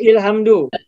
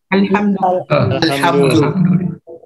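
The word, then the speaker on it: الحمد: Bacanya apa nih? Alhamdu atau ilhamdu? Alhamdu.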